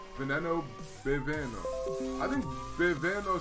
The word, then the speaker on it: Veneno: Did you know the veneno is actually pronounced veneno because V equals B in Italian?